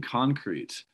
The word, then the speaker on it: concrete: were saying concrete right concrete is if i'm correct in my english knowledge it's when the first syllable is stressed concrete that's the substance right and then when the second syllable is shows concrete yeah adjective form right yeah exactly how